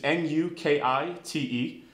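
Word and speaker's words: nukite: spear hand in Japanese to pronounce it it's a new key thing which is nu ki te pretty one aiming for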